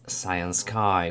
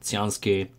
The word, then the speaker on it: Cyansky: or maybe fortunately the brand is actually pronounced as cyan sky which is which should mean the sunny and